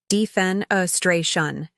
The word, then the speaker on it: defenestration: in word a one defenestration pronunciation defen A stray Shan meaning the act of